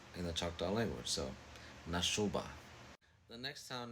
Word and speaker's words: Nashoba: The next town name is Nashoba. Nashoba. Nashoba just means wolf in the Choctaw language. So Nashoba.